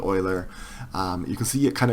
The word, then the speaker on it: Euler: right here X Y is y this is pronounced Euler and what this means is that it actually